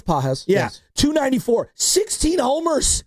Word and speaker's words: Pages: Pages, I don't even know if I'm pronouncing that right. No, it's Pages.